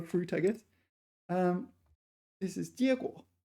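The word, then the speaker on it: 结果: Number 7, also a verb, 结果. So, yeah, so there's 2 pronunciations for this. This is the first tone one.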